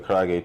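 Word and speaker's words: 唐揚げ: So the traditional Japanese fried chicken, pronounce that for me. That's a karaage.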